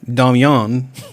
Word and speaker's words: Damien: My husband, Damien, pronounced Damian.